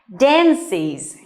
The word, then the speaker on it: dances: Dances. And normally, verbs that end with CE are often pronounced S.